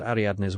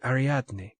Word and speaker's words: Ariadne: you must call me ariadne if you can manage it aradne easy four pretty syllables the the original ariatne